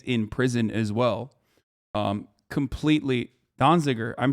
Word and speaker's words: Donziger: Completely Donziger.